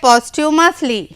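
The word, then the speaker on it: posthumously: यहाँ पर टी के बाद जो एच है दैट इज साइलेंट, तो हम इसको पढ़ेंगे पोस्ट्यूमसली। रिवेयर्ड, श्रद्धेय।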